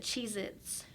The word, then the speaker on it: Cheez-Its: so good they are Cheez-Its only has one Z at the end of it so it's just like cheese it cheese it yeah but we always pronounce it Cheez-Its I mean like like plural because you're not gonna say I'm gonna go buy I'm gonna go eat Cheez-It oh yeah that sounds